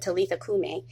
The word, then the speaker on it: Talitha kum: Talitha Kum. Some people pronounce it Talitha Kume, and some people spell it differently, but some of the Bible versions say Talitha Kum, and I love that.